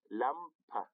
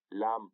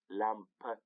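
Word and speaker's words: Lampe: دا داسې نه ویل کېږي چې ناز، بلکې نازه. لامپ نه ویل کېږي بلکې لامپه.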